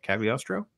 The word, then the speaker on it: Cagliostro: Cagliostro.